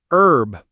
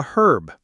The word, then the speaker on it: herb: In American English, the H in herb is often silent. So, Americans say an herb. But in many British accents, the H is pronounced. So, they say a herb.